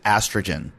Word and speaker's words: AstraGin: see in all my supplements, and that is estrogen. That's spelled ASTRAGIN.